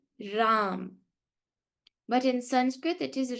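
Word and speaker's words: राम: If we want you to say Ram, we will put a halant in Sanskrit. If there's no halant, it is Rama.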